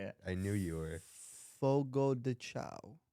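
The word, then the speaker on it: Fogo de Chão: Fogo de Chao. Fogo de Chio.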